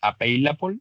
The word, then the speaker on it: available: La tienda tenía un número limitado de sillas disponibles, available, disponibles. Ah, bueno, algo que se me olvidaba mencionar, todas esas palabras que terminan en LE se pronuncian como si terminaran en OL, ¿vale?